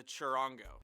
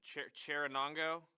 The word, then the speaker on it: charango: One of the most commonly used ones is the charango. Charanongo? You said it right the first time.